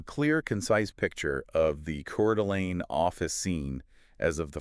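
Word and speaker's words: Coeur d'Alene: And today uh we're looking north specifically at Cordelane Idaho. That's right. And it's pronounced Cord Delane for anyone wondering.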